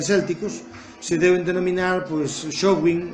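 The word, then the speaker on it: Samhain: se deben denominar, pois, Showin, ou mal pronunciado Samaín, que se deben dizer agora Samaín, non sei por qué, traducindo ou lendo a palabra irlandesa e non adoptando a pronuncia.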